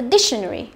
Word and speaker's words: dictionary: Dictionary. Trọng âm và âm tiết đầu tiên, được chưa? Đấy, dictionary.